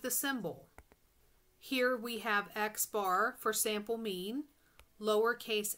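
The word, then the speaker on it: x̄: This symbol, x with a line on the top, is pronounced x bar.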